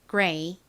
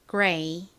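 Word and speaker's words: grey: 한국식으로는 그레이라고 표기하고요. 실제 원어 발음은 끝부분이 레이보다는 ray에 가깝게 소리가 납니다. 발음해 볼까요? gray, gray.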